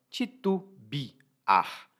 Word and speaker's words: titubear: muito interessante é titubear na pronúncia regular do dia a dia é titu Biar mas o verbo se escreve titubear e titubear significa hesitar